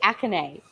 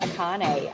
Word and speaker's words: Akane: wasn't it yeah yeah she said acne not akane I'm like that's not right I think I have